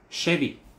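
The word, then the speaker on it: שבי: который я написал внизу Шеви Шеви Шеви ударение на первый слог Шеви Шеви Шеви это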